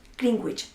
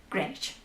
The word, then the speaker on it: Greenwich: decir aldea verde y ojo con la pronunciación no se dice como en eeuu greenwich se dice french no me pregunten porque